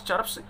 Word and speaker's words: chirps: Her chirps, देखिएगा जो आर लिखा गया है, आर से पहले वाउल है, उसके बाद कॉन्सनेंट है, तो आर यहाँ साइलेंट होता है, नॉट चर्प्स, चर्प्स.